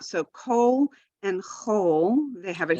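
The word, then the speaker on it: כל: meaning all or everything it's always pronounced coal it's never a call sometimes you'll see it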